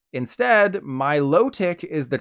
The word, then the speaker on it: Milotic: people on Reddit were upset that it's not pronounced melodic like melodic instead Milotic is the correct pronunciation they were mostly harping